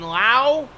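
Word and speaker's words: Brandon Lowe: not related Yellow Jacket they pronounced their name completely differently it's Brandon lau and Josh Lowe even though it's spelled the same wander Franco now over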